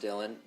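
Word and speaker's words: Dillon: Pronounced Dylan.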